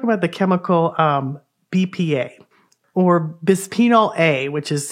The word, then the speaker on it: bisphenol A: all let's talk about the chemical BPA or bisphenol A which is how it's pronounced and it's found in plastics it's not